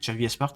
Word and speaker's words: Xavi Espart: Ouais, Xavi Espart, c'est comme ça que ça se prononce.